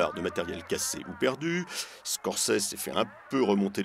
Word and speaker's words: Scorsese: Scorsese s'est fait un peu remonter les bretelles par